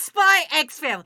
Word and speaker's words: Spy x Family: So it's Spy X Family. Same with Hunter x Hunter. It's there. You got to put the X in there.